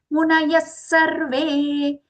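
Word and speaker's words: मुनयः सर्वे: Yajñatva munayas sarve. Munayas sarve. Here munaya followed by the visarga, half sa for it.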